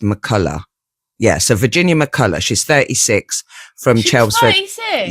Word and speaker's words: McCullough: well Virginia McCulla that's well they said it's pronounced Mulla yeah so Virginia McCulla she's 36 from chel 36 yeah chelsford Essex